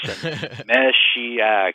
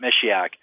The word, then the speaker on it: Meshiaak: do you pronounce this mesak just think of a female she in there you know okay I got it mesak and um but you